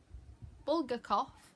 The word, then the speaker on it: Bulgakov: Mikhail Bulgakov's I used to be great at pronouncing Russian names. Hang on. Bulgakov.